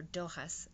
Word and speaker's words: Dochas: the symbol for dough for dough Hoss I'm so used to calling it dough just now that's why